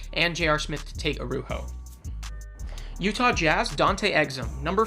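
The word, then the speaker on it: Araújo: hughes toronto raptors rafael arujo number eight overall in 2004. yes i looked it up even though it's not spelled like that that's how you pronounce it apparently arujo was a brazil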